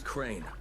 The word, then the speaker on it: Crane: no my name is crane crane rhymes with train and brain and sane and green and rain and play and the other kind of plane and and what can